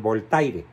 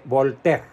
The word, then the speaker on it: Voltaire: famosísimo voltea ese que muchos no saben pronunciar porque Bueno no es obligación saber francés y le llaman voltaire bueno se escribe voltaire y se escribe volter pero era un sobrenombre